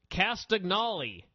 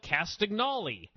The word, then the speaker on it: Castagnoli: started ranting and raving about clao who he pronounced castagnoli which I thought was how it was pronounced